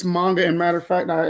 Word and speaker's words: manga: How do you pronounce it? Yes, so it's manga.